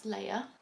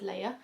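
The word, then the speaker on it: Laia: every single time, but I think it's Leia. I've never seen it spelled like that, but it's L-A-I-A. I was like, Leia? I'm gonna go with Leia.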